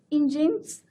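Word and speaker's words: Nginx: It's pronounced as engines and Apache IIS which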